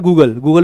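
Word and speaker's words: Google: तो बेसिकली आपके फोन में नेट है, ठीक है, गूगल है गूगले ना, गूगले नहीं, गूगल है, ठीक है।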